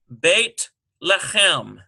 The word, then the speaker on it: Beit Lechem: Transliterate the proper names listed below and practice pronouncing them in Hebrew. Okay. So number 1, there's a familiar one, Beit Lechem. B-E-I-T-L-E-C-H-E-M.